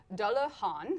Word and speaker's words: Dullahan: Dullahan, like Han Solo.